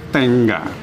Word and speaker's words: tenga: untuk yo bentuknya adalah tengga tuh ini dibacanya tengga ya seolah gnya itu Kedengaran seolah ada G2 tapi ini g-nya satu bukan Tenga bacanya Tenga dengan tengga ya jadi gnya itu tengga ya Kemudian untuk